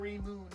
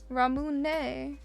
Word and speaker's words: Ramune: That is not how you say that, because if you say it the Japanese way, since it's a Japanese drink, it would be ramune. There's a accent on the E, which is weird for Japanese.